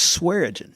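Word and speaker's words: Swearengin: uh little town called swearington just outside of Grant uh they got Saron you have to be from from North Alabama to really know how to say it but it's swearing yeah so yeah they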